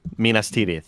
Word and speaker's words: Minas Tirith: And he goes, Minas Tirith. Did I say it right, Andy? Minas Tirith.